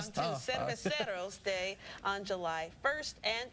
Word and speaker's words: Cerveceros: And the crew will celebrate Hispanic heritage with Cerveceros. See, I said it wrong too. Cerveceros Day on July 1st and pay tribute to the Negro Leagues on August 12th.